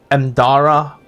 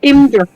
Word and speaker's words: Imdara: down with the half-elven woman, Imdara Arlagath. That's how you say her name. And Not Imdra. Imdra.